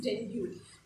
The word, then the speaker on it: dengue: We normally say dengue ho gaya with the series name, the fever that is dengue. The correct pronunciation is dengue, right?